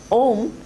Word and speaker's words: Om: Om, it has 3 syllables: A, U and Ma. Akara stands for, it's superimposed on Akara.